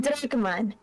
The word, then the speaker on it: Drakmon: I'm Drakmon, Kaito's partner. Nice. Also, did you pronounce it Drakmon? Like Dracula? Like, yes. Like with the accent?